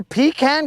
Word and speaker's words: pecan: her pecan garbage.